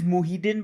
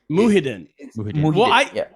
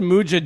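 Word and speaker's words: Muhyiddin: yeah yeah yeah uh his name is muhidin by the way muhidin yeah i said mujahid that's not real but once you're out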